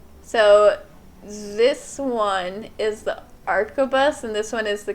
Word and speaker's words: arquebus: barrel one of these i just did the pronunciation and it says arcobus arquebus okay our codex there we